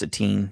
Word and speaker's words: Etienne: uh selected an early running back uh travis sateen is how you say his name a teen etienne yeah really yeah that's weird is it canadian